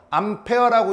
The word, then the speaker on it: 암페어: 이거 A라고 안 읽잖아. 뭐라고 읽어? 암페어라고 읽잖아. 그지?